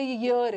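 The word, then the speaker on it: year: ईयर, याक, याक होता है ना, वाई फॉर याक, ईयर में कुछ साइलेंट नहीं है, इसको बस ई ना पढ़ के गलत प्रोनाउंसिएशन करते हो, इसको ईयर नहीं पढ़ना, इसको ईयर पढ़ना है, एक साल, 1 ईयर,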